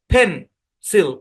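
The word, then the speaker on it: pencil: এই দ্বিতীয় অংশটা আনস্ট্রেস যেহেতু এটা আনস্ট্রেস সুতরাং ভাওয়েলের মূল সাউন্ড আই এর শর্ট সাউন্ডের পরিবর্তে এখানে সো সাউন্ড ব্যবহার হবে তার মানে এই শব্দের উচ্চারণ হবে ফেন্সেল মানে আপনারা ভাবতেছেন যে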